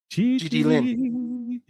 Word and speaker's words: Gigi: And GG, soft G. I prefer it like that. Gigi Lynn.